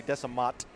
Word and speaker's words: Desamot: You need more than a home field advantage when you're going against Darley Desamot. Hey, don't let him hear you call him that. Well, what's he going to do? The T is silent.